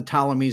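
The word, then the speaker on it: Ptolemies: These are the talamies spelled with a P in the front, right? Yeah. Right. Okay. So, this is the like like pterodactyl, right?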